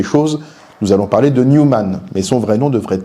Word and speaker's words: Newman: Une précision pour commencer, il faudrait, pour prononcer correctement, parler de John Henry Newman, comme on parle de New York. Bon, en France, tout le monde parle de Newman, alors pour simplifier les